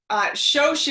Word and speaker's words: Shosh: So Shosh is the traditional nickname for Shoshana, and it happens to rhyme with coach, hence the Shosh.